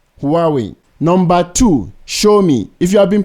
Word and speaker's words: Xiaomi: are we number two show me if you have been pronouncing this word as zomi or anything else the corrent pronunciation is show me the closest English phrase to remember it is show me so show me show